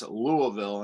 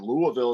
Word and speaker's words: Louisville: That's Louisville, and I learned how to pronounce Louisville correctly with Mom living in Kentucky.